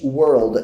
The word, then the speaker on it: world: Cuidado na pronúncia de mundo, de world. É muito tênue a linha entre word, que significa palavra, e world, que significa mundo. As duas têm o mesmo som de vogal, que é ua.